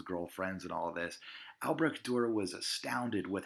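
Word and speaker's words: Albrecht Dürer: Bavaria a southern German state his name is Albrecht Durer Albrecht Durer if you wanted to anglicize it Albrecht is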